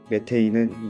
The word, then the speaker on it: 메테인: 메테인은 상온 대기압에서 기체인 무생무취의 알케인으로 메타는 독일식 발음을 메테인은 영어 발음을 한글 표기한 것입니다.